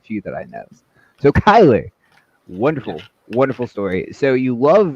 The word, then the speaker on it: Cuyler: It's Cuyler. Cuyler. Just like Cuyler with a K, but it's spelled.